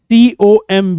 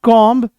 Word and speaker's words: comb: The correct pronunciation is develop. Develop नहीं, develop. Next word is COMB. इसको कौन नहीं जानता? कंघी, जिससे हम बाल झाड़ते हैं. People pronounce it एज comb, but it's not comb.